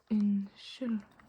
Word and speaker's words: Unnskyld: Unnskyld. Unnskyld. The D is not really pronounced once again. Yeah. Often the D is not very emphasized on or not pronounced when it's at the end of a word.